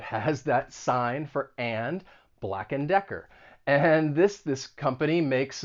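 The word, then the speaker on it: Black & Decker: use around the home and once again you're not going to say and you're going to reduce it to just n black and decker black and decker next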